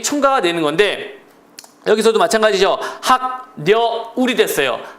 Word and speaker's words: 학여울: 이제 어음 의문이 첨가가 되는 건데 여기서도 마찬가지죠 학녀 울이 됐어요 학녀 울에서 자 기억이을 만나니까 항 그래서 비화가 됐죠 울 그럼 발음이 울 이니까 h가 되는 거죠 h 항